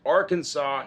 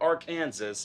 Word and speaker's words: Arkansas: it's on the books somewhere from it's it's pronounced arkansas not our kansas and it's a state law to pres to